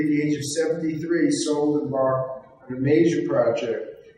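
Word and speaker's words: Szold: Next, Henrietta Zold. Sold. No, The S is pronounced as an S in Sold?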